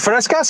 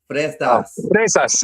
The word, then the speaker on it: fresas: Is it frescas? How do you say strawberries? Frescas, yeah. Fresas, yeah.